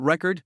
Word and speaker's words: record: Think about record noun and record verb. Stress on the first syllable means a thing. Stress on the second means an action.